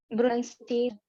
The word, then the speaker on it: pronunciation: Okay, however, when you pronounce this word, it's called pronunciation. It's not bro, it's pra.